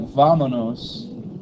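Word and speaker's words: vámonos: was talking about how you have to be very careful how you pronunciate it, because if you say like vamonos, it's let's go. If you say vamonos, let's go monkeys. Which one did Joy say? She says vamonos, that's correct. Yeah, but she says like if you say whatever monos, that monos is monkeys.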